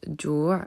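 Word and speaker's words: جوع: C'est le cas du nom Jou'in, qui est le nom fin, F-I-M, et qui se prononce Jou' dans le Coran lorsqu'on s'arrête sur ce mot.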